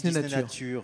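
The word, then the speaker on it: Disneynature: On le prononce à l'anglaise ou à la française ? En France, en France, on dit Disney Nature. C'est beaucoup mieux.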